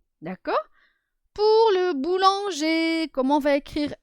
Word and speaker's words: boulanger: à la fin d'accord on ne dit pas boulangeur on dit boulanger alors nous avons la